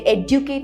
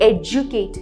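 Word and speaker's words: educate: एजुकेट, यहाँ पे मतलब हमारा एक आदत होगा एडुकेट बोलने के लिए, एडुकेट नहीं है, ये एजुकेट है।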